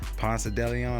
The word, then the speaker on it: Ponce de Leon: 10.1 projection play, 64% advantage play, going against Daniel Ponce de Leon, or Ponce de Leon, that's how you pronounce it.